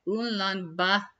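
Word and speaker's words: Ulaanbaatar: It's like unlambar. Uh that's actually how it's said and or closer to that.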